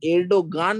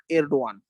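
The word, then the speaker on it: Erdoğan: এডও এডওয়ান এবার ব্যাপারটা হচ্ছে যে ইংরেজি নামটা এই ই আরডি ও এন ঠিক আছে এবার এলডোগান না এলডো তুর্কিরা তুর্কিরা এটাকে এলডোই উচ্চারণ করে রিচে টাইপ এলডওয়ান ঠিক আছে এই প্রসঙ্গে আরেকটা হোমওয়ার্ক দিয়ে রাখি।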